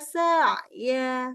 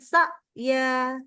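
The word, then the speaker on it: سعيا: Jadi ada bunyi sa'. Nah ini kan agak ada durasinya panjangnya. Tapi kalau yang tadi. Ya'ti. Itu nggak ada durasinya langsung berhenti. Ya'tinaka sa'ya. Bukan sa'ya. Nah ini yang harus berbeda.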